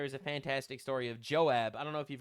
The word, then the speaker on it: Joab: Yoav he's pronounced Yoav in Hebrew. That's how I know how to pronounce him.